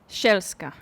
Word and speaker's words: Sielska: Marta, I've been pronouncing your last name in my head as Sielska. It's Sielska, I assume, right? Sielska.